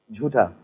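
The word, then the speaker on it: झूठा: Jhuta.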